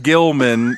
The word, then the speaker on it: Gilman: I named him Gilman because it rhymes with kill and he was going to get killed.